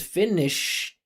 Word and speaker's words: Finnish: in Ukraine and the Finnish NATO pro the finished NATO. So like if she says finished, right? All she has to do says finished or finish just add some some sh there.